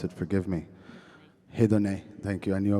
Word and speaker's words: Hedoné: And they have started this beautiful project called Hidon. Hidon. I don't know how to pronounce it. Forgive me. Hideon.